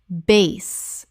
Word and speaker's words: bass: Bass, the fish. Bass, rhymes with class. Bass, the musical term. Base, rhymes with face.